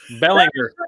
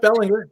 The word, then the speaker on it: Belanger: And that was back in the day when every episode I pronounced Jeff's name incorrectly. Bellinger. Tonight, Jeff Belanger, Jeff Belanger, Jeff Belanger.